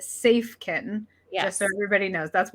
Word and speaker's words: Safken: website which is uh it looks like safkin but is pronounced safe kitten yeah so everybody knows